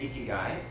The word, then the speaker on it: ikigai: Ikigai.